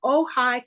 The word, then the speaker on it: Ojai: So Ojai, California. I wrote that down to do. OJAI is how you spell it.